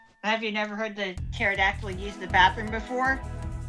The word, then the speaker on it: pterodactyl: you never heard the pterodactyl used the bathroom before Oh because the p is silent oh oh God two